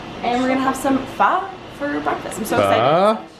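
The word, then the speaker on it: phở: Pho.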